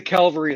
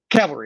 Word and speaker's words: cavalry: wouldn't trust that the calvary is coming but i'm not trusting that calvary is coming yeah cavalry i'm sorry i have i i mispronounce it uh like i i